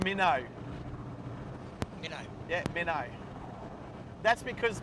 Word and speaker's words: Minto: you pronounce it without the T these days. Yeah, it's Minnow.